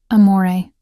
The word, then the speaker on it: amore: Amore, I said softly, demonstrating the proper pronunciation. The R is barely there. It's more of a suggestion than a sound.